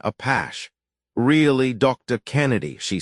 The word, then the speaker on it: Apaches: Craig gave it its galicized pronunciation, a pash.